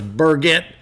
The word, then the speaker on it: Burgett: You told me before it was Burgett, like Turgett.